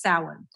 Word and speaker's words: Samhain: All right, but it's pronounced Samhain.